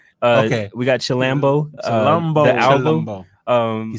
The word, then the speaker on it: Chilombo: Chilombo. That's what it looks confidence, like, bro. Like chill in Colombo. Okay, we got Chilambo. Chilombo.